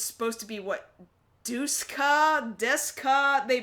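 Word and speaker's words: Duscae: Fantasy 15 um it's supposed to be what dusa Desa they pronounce it Desa but it's spelled d s c a e Desa episode something like that what the episode is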